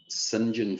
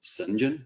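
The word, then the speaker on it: St John: this is his father on the left sinjin philby so it's spelt like scent john s t dot john but pronounced sinjin sinjin philby also known as sheikh abdullah so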